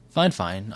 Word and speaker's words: Fifine: I was looking for a mic, and Fine. That is how I was told, is how they pronounce their name.